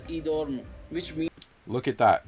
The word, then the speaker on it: Edom: family in idoma the name edom is pronounced as idorn which means look at